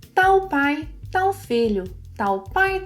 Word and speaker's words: tal: Here in Brazil, most people say tal.